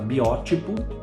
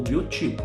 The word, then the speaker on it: biótipo: Aqui sim, ó, você pode pronunciar biótipo ou biotipo. As duas formas são admitidas pela língua portuguesa.